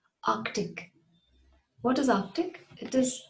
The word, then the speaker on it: Arctic: It is not Arctic, it is Arctic. Arctic. There's a K sound in between. Arctic.